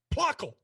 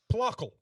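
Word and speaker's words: Plöckl: I would think it's plotsky we're gonna see how this is pronounced it's probably gonna make me angry apparently it's Swedish pluckle it's blockal sorry pluckle that actually makes sense that's an i that's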